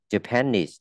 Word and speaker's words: Japanese: Japanese, Japanese, không đọc là Japanese nhá. Japanese, Japanese, học từ Japan bé lại và knees kéo dài ra.